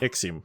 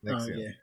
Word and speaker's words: NXIVM: Talk to us about Seduced inside the NXIVM cult, if that's how you pronounce Nexium. it. Oh. Nexium. Is that the... Nexium.